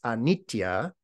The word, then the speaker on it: anitya: In Sanskrit, it's anitya. Same word, just a slight different pronunciation.